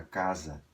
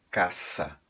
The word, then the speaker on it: casa: você ver a palavra Casa Escrita em um texto espanhol você vai ler com um S forte caça nunca casa tá esse som sonoro não existe em espanhol Zaz Z zoz nem